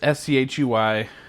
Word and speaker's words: Schuy: It's Schui, which could also be pronounced school. But that's how my name is spelled, and it's always been pronounced, so get over it.